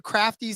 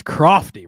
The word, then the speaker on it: Crofty: The most egregious mispronunciation there was crafty. It's crofty, Rod.